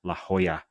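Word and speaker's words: La Jolla: to can it Andrew Tech telling me it's pronounced La Hoya um the code name of this headset so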